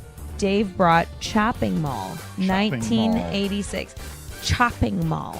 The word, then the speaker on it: Chopping Mall: Chopping Mall. And we're not mispronouncing that because of all the alcohol. No, chopping. It's literally chopping.